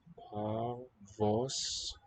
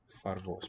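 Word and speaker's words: פֿאַרוואָס: Oh, far. I was hearing a P. Favos nicht. Parvos. Far. Right? A in the first syllable. Vos. O in the second.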